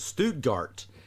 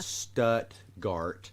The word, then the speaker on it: Stuttgart: I had an old graduate school professor pronounce it Stuttgart. No. That's in Germany. We pronounce it Stuttgart, and that's the duck hunting capital of the world.